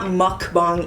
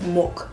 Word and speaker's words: 먹방: And it's not mukbang either, because that just sounds weird and gross. Mukbang, like, it's mok, like mogo, mogoyo.